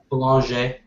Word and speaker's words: Boulanger: Boulanger. Is that how Paul says it? Yes.